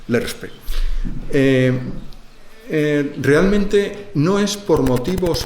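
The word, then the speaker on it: LESRPE: lobo dentro del LERSPE, es muy difícil de pronunciar, por eso la mayoría de la gente dice LESPRE, pero es LERSPE.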